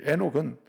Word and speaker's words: 에녹: 그런데 5장에 나오는 라헬의 아들은 여기 에녹은 그냥 에녹으로 기록해. 에녹도 원래 하노크거든요. 하녹인데 하녹은 에녹으로 기록한 거예요.